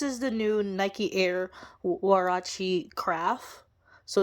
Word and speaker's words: Huarache: Well, it's actually pronounced Huarache. It's like, so the history from this is actually from Mexico.